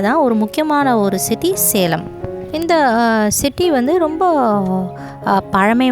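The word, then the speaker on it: Salem: அந்த இடத்துல தான் ஒரு முக்கியமான ஒரு சிட்டி சேலம். இந்த சிட்டி வந்து ரொம்ப பழமை வாய்ந்த ஒரு சிட்டி. இந்த சிட்டியை சேலம்னு அவங்க ப்ரொனவுன்ஸ் பண்ண மாட்டாங்க, பட் சலம் அப்படின்னு ப்ரொனவுன்ஸ் பண்ணுவாங்க. வாவ், எல்லாமே ரொம்ப ஒரு வித்தியாசமான ஒரு இன்ஃபர்மேஷனாகவே இருக்குது இல்லையா?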